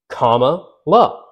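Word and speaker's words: Kamala: confused it legitimately helps comma love they said you say comma like like you're doing a comma like you know in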